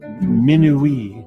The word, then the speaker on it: minuit: Minuit in French, midnight, gets an extra syllable in this West African pronunciation. Minuit s'amuse, midnight amuses itself.